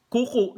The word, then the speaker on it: kuku: Kuku, hindi long vowel yung first syllable, pero merong glottal stop sa last syllable. Merong pakopya yung huling U, ano? Ang bigkas, kuku. Ang ibig sabihin nun, finger or toenail, ano? Kuko sa Tagalog. Ang ang kuku naman, ibig sabihin sa Tagalog, ubo o cuff sa English, ano? Ang bigkas niya, kuku, yung first syllable, long vowel. Yung last syllable, merong glottal stop, kuku.